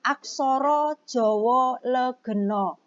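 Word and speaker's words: aksara Jawa legena: materi barunya adalah tentang aksoro Jowo legeno ya Kenapa Ustazah bacanya seperti itu kalau dalam bahasa Jawa itu huruf a di baca dengan huruf apa Oh gitu ya aksoro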